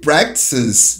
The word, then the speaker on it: practices: Olha, o pessoal se enrola um pouquinho com essa pronúncia, né? Practice. Aí, bota o S. Practices.